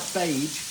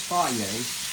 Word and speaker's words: Fage: This is the fier uh zero fat Greek yogurt. Plain Greek yogurt. And as they put on everything, no, it's not fagee. F a ge, it's fier.